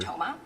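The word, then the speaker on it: Thoma: Toma, my last name is spelled t h o m a.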